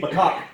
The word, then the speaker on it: macaque: Dixie Kong is a chimpanzee macaque character. That's how you pronounce it.